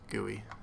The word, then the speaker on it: GUI: it's called title gooey and yes it is pronounced goey for those of you that are not aware